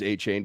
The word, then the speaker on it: Achane: It's spelled Achane. It's cooler as Achane, but he says it's Achane, so it's Achane.